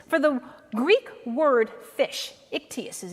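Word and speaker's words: ἰχθύς: But you see, what happens here is, for the Greek word fish, ichthys is how it's pronounced.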